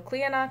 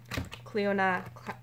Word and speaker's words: Clionadh: I had an idea of how I was going to attempt to pronounce it. It was not that. So Clionadh Cosmetics, Clionadh Cosmetics, and I'm taking it out.